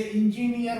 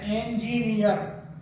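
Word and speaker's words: engineer: ऐसे ही ENGINER, इसे इंजीनियर बोलते हैं, जो गलत है। इसका सही प्रोनाउंसिएशन होता है इंजीनियर, इंजीनियर। ऐसे ही एक वर्ड है DEPUTY, इसे डिप्टी बोल देते हैं, जो सही नहीं है।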